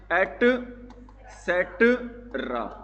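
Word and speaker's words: et cetera: इसको बोलते हैं एट सेट्रा।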